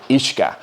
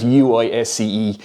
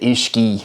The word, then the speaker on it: uisce: Comes from the Irish word for water, uisce. So, it's spelled u i s c e. Some people were pronouncing it uisge, so you can see how it became whiskey.